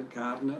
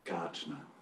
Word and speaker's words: Gartner: The Gardner or Gartner? Gartner. Right. It is Gartner.